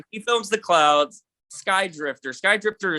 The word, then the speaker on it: SKYDRFTR: Skydrifter is spelled SKYDRFTR.